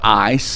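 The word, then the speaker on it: εἰς: The Greek word is the word eis, or ice as some pronounce it, and it never refers to action in the past.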